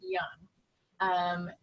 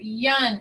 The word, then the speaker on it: Youn: Dr. Youn, am I saying it right? Close, it's Youn, but Youn. Very close.